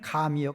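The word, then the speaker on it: גם: 어문엔 감이요, 감. 과일의 감이 아니고 히브리어로 발음이 감이라는 접속사예요.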